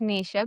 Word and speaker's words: Nesha: Well, I'm Nisha, pronounced Nisha, but spelled slightly different.